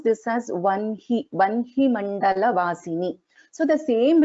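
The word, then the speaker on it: वह्नि: So though this is written as ha, na and ikara here, we will pronounce this as vanhi mandala vasini only, not as vahani here.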